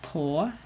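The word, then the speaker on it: på: we use a lot is po p and it's spelled p and the a with the surf ccle on top I'll put it in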